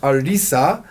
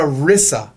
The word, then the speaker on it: Arisa: guest who happens to be my bilingual daughter Arisa.